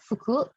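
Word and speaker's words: 服: Nah, ya dibacanya fuku.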